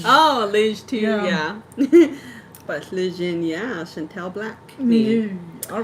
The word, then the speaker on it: Lejeune: Oh, Lejeune, yeah.